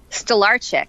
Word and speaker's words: Stolarczyk: Beth Stolarczyk. Am I pronouncing that right, Beth? Stolarczyk.